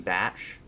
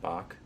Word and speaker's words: Bach: I was shown at work this guy called King Batch, but he spells his name B-A-C-H, like Bach. But Okay. he's black, so maybe he doesn't understand that it's pronounced Bach. But whatever, you know.